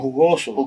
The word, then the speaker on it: jugoso: The J is pronounced like an H.